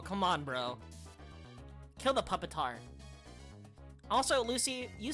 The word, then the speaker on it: Pupitar: Kill the puppetar. Also, Lucy, you say it's it's pronounced pupitar, right?